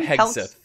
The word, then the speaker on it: Hegseth: How do you pronounce his last name? Hegseth.